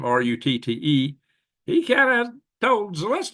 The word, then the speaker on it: Rutte: Well, just so happens that NATO chief, Mark Rutte, have you say his name, Rutte, he kind of told Zelensky, you better go back hat in hand on your knees and make friends with Trump again.